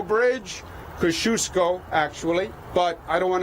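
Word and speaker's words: Kosciuszko: be a new JFK Airport there's a new cross kiosk Oh Bridge Kosciusko actually but I don't want to get into a pronunciation debate until we actually have to open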